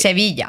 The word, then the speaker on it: Sevilla: It's I I think that's how like you say Seville in kind of British English is Seville, but it's Sevilla.